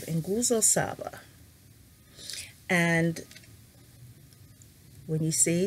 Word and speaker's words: nguzo: Okay, so the 7 principles of Kwanzaa are called Nguzo Saba. And When you see, that's N-G-U-Z-O, nguzo, right? So you want to say it like it's back here in your throat, nguzo, Saba.